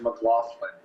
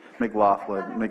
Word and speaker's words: McLaughlin: And my last name is McLaughlin, M-C-L-A-U-G-H-L-I-N. And it's easy to remember because it's got the word laugh right in the middle of it. Did you pronounce that? Thank you. It's McLaughlin.